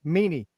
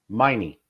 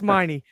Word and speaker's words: Miney: pronounce his name incorrectly, Meany. Miney. We'll get there. Miney. There we go. See, Miney. I called you Meany, but it's Miney.